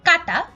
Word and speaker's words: কাঁটা: ধরনের কিন্তু আমরা যদি বলি কাঁটা অর্থাৎ চন্দ্রবিন্দু ব্যবহার এবং উচ্চারণ করি তাহলে তার অর্থ দাঁড়ায়